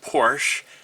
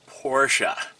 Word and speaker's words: Porsche: And no, it's not pronounced Porsche. It's pronounced Porsche.